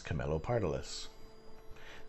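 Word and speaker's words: Camelopardalis: for now this video shows you how to pronounce camilo pardolis that was the galaxy we shot in that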